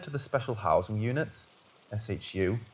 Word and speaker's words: SHU: were either transferred to the special housing units Shu pronounced shoe had their cases re-examined by our in-house judge